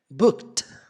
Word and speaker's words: booked: Se nós fôssemos falar isso aqui pausadamente, a pronúncia seria booked. Literalmente com o som de T.